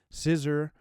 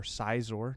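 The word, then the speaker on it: Scizor: the ho GX 1839 scissor or czor depending on how you say it I say scissor uh $201 dark cry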